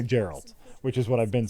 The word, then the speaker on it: Geralt: go no no I want to say Geralt but that's wrong so it's definitely Geralt which is what I've been saying Geralt okay it's very good